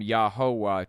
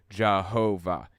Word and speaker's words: Jehovah: and eventually you know y's pronounced like J's W's pronounced like V's it became it morphed from yahovah to Jehovah the first appearance of